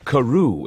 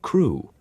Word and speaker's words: Crewe: The French headmistress pronounced the student's name Carew instead of Crewe.